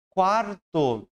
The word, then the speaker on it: quarto: Só que em quarto, é como se eu tivesse essa escrita aqui, com C. Quarto, certo, pessoal?